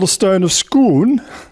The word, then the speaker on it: Scone: called the Stone of Scone they've got the pronunciation right because it was nabbed from Stoops Kuhn in Scotland it was used as